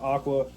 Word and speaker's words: AQQA: Um, AQQA, I guess you pronounce it Aqua.